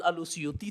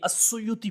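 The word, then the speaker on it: السيوطي: مطلب یہ ہے کہ یہ اصل لفظ الاسیوطی تھا، اور اس کو آسان آگے تلفظ کرنے کے لیے السیوطی بول دیا گیا ہے۔ یہی ائمہ محدثین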